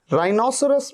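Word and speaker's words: rhinoceros: अच्छा, यहां पर देखिए राइनोसरस, राइनोसरस में या रिदम में आप देख रहे हैं एच से पहले क्या आ रहा है, आर, यहां पर एच का साउंड ही नहीं है।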